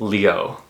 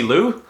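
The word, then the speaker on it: Liu: you see L IU that is a very common Chinese last name that is pronounced Leo um in the case of someone like Lucy Lou I regret to inform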